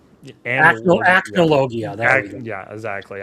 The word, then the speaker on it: Acnologia: what's the fucking, like, evil dragon that, like, Analogia. Acnologia. There we go. Yeah, exactly. I can't pronounce it.